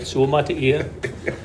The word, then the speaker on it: Suamataia: Suamataia. Yeah, I think that's, you got it, right? Suamataia.